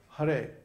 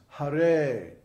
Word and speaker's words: Hare: So in Hare, for example, the first syllable is short and the second syllable is long. So it's not Hare, it's Hare.